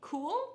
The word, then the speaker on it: Kule: Cool, but it's not K-U-H-L.